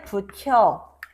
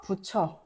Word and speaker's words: 붙여: 그래서 발음할 때 붙혀 붙혀가 아니라 붓 티이 반모를 만나서 부처로 발음이 되고 있는 것입니다.